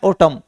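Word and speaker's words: autumn: हमारी आउटलाइन तो एल ST last ये है ऑटम देखो ए यू टी यू एम एन T silent बोलेगा ये ऑटम बोलता है तो टी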